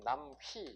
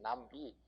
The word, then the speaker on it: 남이: 네, 조부님이 이제 이름 발음 잘해야 되겠 남희, 여기는 남이. 네, 남이와 그 다음에 넷째 딸이 결혼했어요.